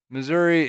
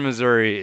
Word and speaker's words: Missouri: Yeah, my dad pronounces Missouri as if it had an A on the end of it. It drives me insane. Missouri. Missouri. Like, it Oh. ends in a fucking I.